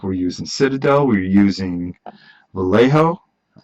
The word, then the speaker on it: Vallejo: We're using a Americana, we're using Citadel, we're using Vallejo.